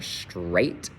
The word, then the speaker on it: straight: This one, on the other hand, AIGH, can be spelled that way. So it'll make the long A sound for straight.